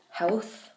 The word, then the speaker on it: health: This is pronounced health. Health? Yeah. So at the end there, it kind of sounds like you say health with like an F after the L, but try and, when